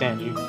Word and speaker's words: Ange: case it'd be pronounced no no it's angie yeah it's angie like western names there's no i no it's it's angie trust me it's like uh angel but angie yeah yeah all right